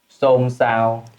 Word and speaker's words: xôn xao: Most of the time, S, sh, and s in the North pronounce nearly the same. They know how to pronounce differently, but they likely to choose pronounce the same as s.